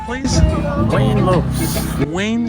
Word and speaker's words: Lopes: Wayne Lopes. Wayne. How do you spell your last name, Wayne? Lopes. Lopez. Oh, is that how it's pronounced? With an S.